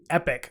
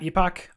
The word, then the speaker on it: epoch: Epic. So this is pronounced epic and not epoch. I always thought it was like the Unix epoch.